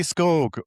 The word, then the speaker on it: Scog: We have Ellie Ellie Scog rhymes with Vogue.